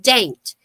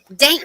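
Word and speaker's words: Dante: Randy started talking last year that he wanted to go to a little town called Daint. It's D A N T E, but you say it like paint. Daint, Virginia.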